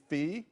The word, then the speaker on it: Fille: That winery is Fille Wines. I believe that's how you pronounce it.